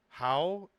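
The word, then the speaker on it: Hua: Fa is the Cantonese pronunciation of Mulan's family name. How is the correct Mandarin pronunciation that means flower.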